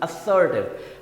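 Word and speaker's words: assertive: सा साउंड आएगा, ज नहीं, असर्टिव।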